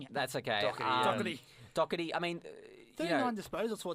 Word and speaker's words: Doherty: I've been looking at that name for ages, trying to figure out how to pronounce it. Thank you for saying it. That's okay. Doherty.